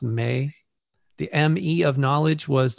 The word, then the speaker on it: me: It was actually the Sumerian word would be me, pronounced may.